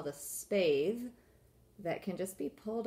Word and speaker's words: spathe: Spathe is a word with a silent E. It makes the A have the long sound.